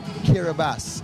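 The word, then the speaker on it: Kiribati: spelling but this is kiribas it's spelled k-i-r-i-b-a-t-i yet it is pronounced kiribas it's made up of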